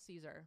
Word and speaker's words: Caesar: It's actually spelled Caesar, by the way. Oh, really? Yeah, but in the Italian form, it's pronounced Cesare.